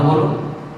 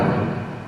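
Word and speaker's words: ب: leaf সবাই আমার সাথে একসাথে বলুন আলিফ আবারো বলুন আলিফ সবাই আরেকবার বলুন আলিফ বন্ধুরা এভাবে বারবার বলতে থাকুন প্রাকটিস করতে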